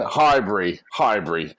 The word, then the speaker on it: Highbury: Oh man, Highbury. There's no berry. All right, we don't have that kind of sound in American English.